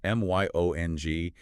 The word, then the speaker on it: myong: Spelled m y o n g, and keeping our German phonetics pronounced myong.